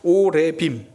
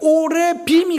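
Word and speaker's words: עורבים: 안 그래도 발음 안 좋은데 오레빔. 그런데 히브리어의 상인들이라고 하면요 오리빔입니다. 그러니까 까마귀가 가져다 주었다. 그러니까 오레빔이 가져다 주었다.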